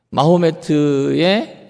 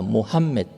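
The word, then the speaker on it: محمد: 자, 그렇다면 이 이슬람교가 어떻게 시작됐는지, 마호메트의 일생과 이슬람의 시작. 사실 마호메트의 발음이 어디서 왔는지는 모르겠는데요. 제가 북아프리카에서 15년 사역을 하고 그다음에 아랍어 사전을 편찬하면서 정확한 발음이라고 거의 말씀드릴 수 있는데, 모함мет입니다. 모함멧.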